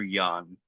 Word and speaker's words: Jan: So, you played is was it pronounced Jan or Yan? Yan. She says over and over his name is Yan.